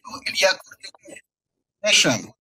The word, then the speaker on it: Ilya Kurdyukov: Ilya Kurdyukov. Kurdyukov. I'm sorry, I pronunciation of your name.